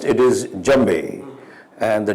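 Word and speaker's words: djembe: actually pronounced it is jambei and the D is spelled d-j-e-m-b-e although the D is silent like how it is in French so uh why uh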